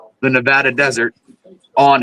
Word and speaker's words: Nevada: And for everybody who doesn't know, it's pronounced Nevada, the Nevada desert, on how fast Japan would fire up if we dropped like fire before.